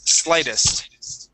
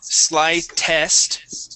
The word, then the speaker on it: slightest: word slightest here um that uh EST okay we're going to pronounce that like a short I instead of slight slight slightest it is slightest uh one more time